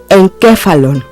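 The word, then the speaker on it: ἐγκέφαλον: Ángel enviado ahora ejercitemos epsilon gama capa sí Alfa Landa omicron me la palabra se lee En qué falon y quiere decir encéfalo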